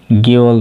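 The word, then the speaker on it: 개월: यसलाई खेवल भनेर उच्चारण नगर्ने गेवल भन्नुपर्छ।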